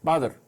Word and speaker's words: Badr: Badr is a derivative from the Arabic pronounced Badr, meaning full moon.